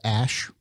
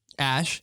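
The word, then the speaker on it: Æ: It's pronounced Ash. Ash.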